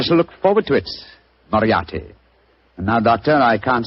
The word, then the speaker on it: Moriarty: People will either misspell it or mispronounce it. I'm afraid I'll have to begin calling it the way it looks. M-O-R-I-A-R-T-Y. Moriarty.